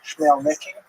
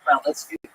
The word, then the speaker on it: Khmelnytsky: this man, not Khmelnytsky, sometimes horribly mispronounced Chmielnicki, because that's the Polish spelling with an American pronunciation, but the actual pronunciation is Khmelnytsky, led an uprising of Ukrainian peasants against their Polish overlords.